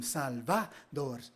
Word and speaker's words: Salvador: honor the history of your 3 regal syllables. Sal, salt of the earth, your inheritance. Va, salva, to go, to fly. Va, salva, door, the opening, the invitation. Say it with me, your name.